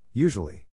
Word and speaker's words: usually: In this case, the accent is in the first syllable, corresponding to you.